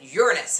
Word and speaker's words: Uranus: is very important and that is how we pronounce it Uranus.